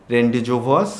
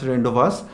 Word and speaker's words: rendezvous: এটা হচ্ছে আমরা যদি মানে এমনিতে যদি উচ্চারণ করি রেন্ডিজোভস। কিন্তু রেন্ডিজোভস এটার উচ্চারণ না। এটার উচ্চারণ রেন্ডস।